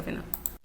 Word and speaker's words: FENOC: Los indígenas campesinos también conformaron organizaciones como la Federación Nacional de Organizaciones Campesinas, que escrito abreviadamente significa FENOC, se escribe FENOC, se pronuncia FENOC, que lideró la lucha por la reforma agraria.